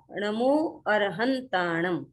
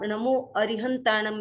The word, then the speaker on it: णमो अरहंताणं: सव्वेसिं पडमम हवई मंगलं हम यह इसका शुद्ध उच्चारण हुआ णमो अरहंताणं इसको आप नमो अरिहंतानम भी बोल सकते हैं क्योंकि नमो अरिहंताणं बहुत ज्यादा प्रचलित है लेकिन हमारे धर्मसंघ में णमो अरहंताणं हम ज्यादा बोलते हैं है तो यह है